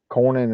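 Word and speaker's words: Cornyn: you've got uh John Corin I apologize I mispronounced his last name a minute ago it's John Corin out Texas Tom tills out of North Carolina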